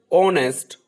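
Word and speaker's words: honest: नेक्स्ट, ऑनेस्ट, honour, are, एयर, इसमें H silent है।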